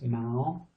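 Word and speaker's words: เมาส์: And now this is the S sound, but we're not going to pronounce it because it's got this tape over the top, so it becomes silent. Usually they do this if it's an English word, again, that's been translated into Thai, and so the Thais will say it without this letter.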